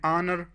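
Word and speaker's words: honour: एन ऑनर, इस अल्फाज में इच जो हैं वो साइलेंट हैं, लिहाजा इससे पहले हम एन लगाएंगे।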